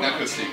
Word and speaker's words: Inakustic: And with me we have Sven Schulz from Inakustic, if I pronounce that correctly. That's correct, yeah. Let me know. Inakustic, yeah.